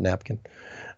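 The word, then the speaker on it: Nappkin: It's called Napkin. It's spelled N-A-P-P, so like app, but nap.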